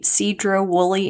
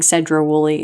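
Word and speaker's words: Sedro-Woolley: It was in the Cedro Woolly area. I was saying Cedra Woolly, and I did not realize I was saying it wrong.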